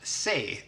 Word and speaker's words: C: Then we have C, which in Swedish is pronounced se, and se, se, means to see something.